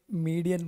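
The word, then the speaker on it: median: ये मीडियन बोलते हैं। क्या बोलते हैं इसको? मीडियन। आपकी हो सकता है प्रोनाउंसिएशन सही हो, पर वो यूरोप में चलेगा, यहाँ नहीं चलेगा, है कि नहीं? हम फिलहाल हिंदुस्तान में रहते हैं तो हमें मीडियन ही बोलना पड़ेगा।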